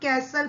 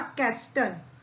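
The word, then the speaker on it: castle: बच्चों देखिए यहाँ पे ये कैसल, कैसल में हम टी को साइलेंट पढ़ेंगे, इसको हम कैसल पढ़ेंगे, नॉट कैस्टल. इट्स कैसल.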